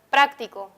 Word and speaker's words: práctico: Otro ejemplo podría ser la palabra práctico. En la palabra práctico encontramos el acento en la antepenúltima sílaba, frac.